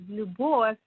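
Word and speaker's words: Любовь: It's actually a very common name because the full name, which pronounced as Lubov, means love.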